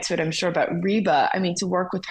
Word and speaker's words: Reba: said who is it rebba rebba is that how you say it and he goes reeba so I I've been